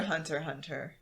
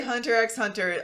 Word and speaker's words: Hunter x Hunter: whatever and it's just the x's are supposed to be silent so i was just